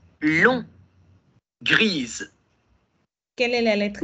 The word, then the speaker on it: grise: Y aquí me quedo hasta la S.